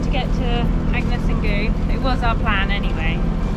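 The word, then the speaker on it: Gugh: I pronounce it goo.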